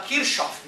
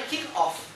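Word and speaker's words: Kirchhoff: nem é lei e o nome do cara é kick off que é alemão kick off Gustavo KickOff então aí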